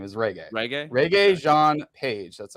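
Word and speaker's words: Regé-Jean Page: how you say his name is reggae reggae Reggae Jean page that's how you say his name he's he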